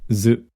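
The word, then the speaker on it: づ: Tsu with the dakden is pronounced zu. Note that tsu with the dakden is pronounced the same as su with the dakden, zu.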